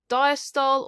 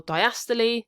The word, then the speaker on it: diastole: into three key stages diastol or diastole depending how you pronounce it atrial systole or systole